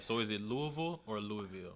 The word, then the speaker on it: Louisville: I'm originally from Louisville, Kentucky, born and raised there.